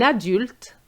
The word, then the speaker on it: adulte: Most students said adult. It's an adult. So you have to pronounce the U sound.